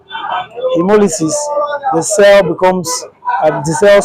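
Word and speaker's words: haemolysis: phenomenon known as chemolysis spelled as h a e m o l y s i s British spelling hemolysis the cell becomes the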